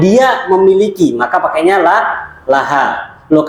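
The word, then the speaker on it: لها: pakainya la Laha Loh kenapa kok bukan Liha gitu ya sama seperti Li gitu ya untuk Li ya untuk Li asal membacanya Li asalnya ya ini faedah baru bisa diingat asalnya bacanya Li ya kecuali bersambung dengan kata ganti maka bacanya la ya tadi kan gitu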